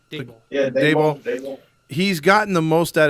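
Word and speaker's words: Daboll: Yeah, Debo.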